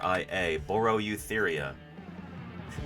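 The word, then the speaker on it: Boreoeutheria: e u t h e r i a borro eutheria you like me to use it in a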